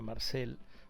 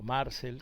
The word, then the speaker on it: Marcel: Quieren a Marcel o Marcel, como creo que es lo correcto pronunciar este a Marcel Ruiz como titular en la Copa del Mundo.